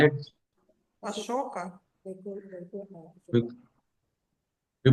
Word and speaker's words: asoka: We call it, Ашока. we, we pronounce commonly.